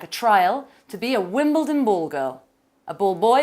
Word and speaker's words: Wimbledon: Now, I say this to Spanish people and they always say, Wimbledon, Wimbledon. And I'm like, no, Wimbledon. It's spelt funnily, but that's its little quirk.